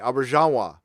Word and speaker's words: Auberjonois: Auberjonois. Thank you. Think French when pronouncing the J. Auberjonois.